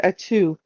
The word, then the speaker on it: Atu: Say the word atu. A 2? Atu. Tight. Gesundheit. How do you spell that? A-T-U. Atu. A 2. Like hat 2.